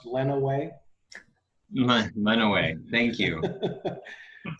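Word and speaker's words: Lenawee: in the county next to jackson which is pronounced lena way by the way thank you okay and um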